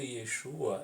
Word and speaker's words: Yeshu: No hebraico moderno, o nome de Yeshua é escrito e pronunciado Yeshu.